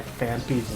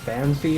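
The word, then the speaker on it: Phanpy: I will never not be confused by Fampy's name because sometimes it's pronounced Fanpy officially and sometimes it's pronounced Fampy.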